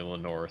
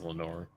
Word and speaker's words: Lenoir: so yeah I'm pretty sure it's a definitely Lenor since everybody says it's Lenor well I mean I would college football for pronouncing in NFL there's an NFL player called